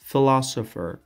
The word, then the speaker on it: philosopher: Philosopher, philosopher, philosopher, و یاد داشته باشین این را فیلسوفر تلفظ نکنین, philosopher, فیلسوف.